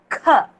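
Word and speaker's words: ख: Kha. With a ha sound it should come.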